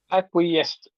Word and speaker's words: acquiesced: Acquiesced.